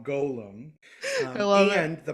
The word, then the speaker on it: Golem: rabbi Hebrew nerdy mode, should be pronounced with a long O, Golem.